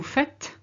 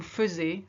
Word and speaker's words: faites: Vous faites. Now that's the bit everybody forgets. The amount of French people are here who say vous faisiez, and I'm thinking that's not correct. It's actually vous faites.